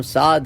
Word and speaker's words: سعد: نہیں ہے اردو میں، اب میرا نام سعد ہے اردو میں، لیکن آپ عرب سے پوچھیں گے سعد، عین ہے اس کے پاس سعد، تو سعد اور سعد فرق ہے تلفظ میں۔ اچھا، تو تجوید جو